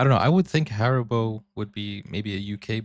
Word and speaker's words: Haribo: Maybe not everyone knew that Haribo is actually German. We pronounce it Haribo.